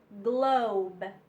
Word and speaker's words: globe: So the E doesn't even make a sound. So we have gl in glue, our long O sound, glow, glow, and then a B sound, globe, globe, and our E is silent.